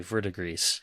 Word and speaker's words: Verdigris: And I think that's how it's pronounced. According to Google, they say Verdigris. So I think that's what I'm going to go with.